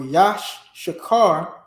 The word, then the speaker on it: Issachar: The word Issachar or Yashakar, which is the proper pronunciation, Yashakar. Yashakar. All right? That's how you properly pronounce Yashakar, Issachar.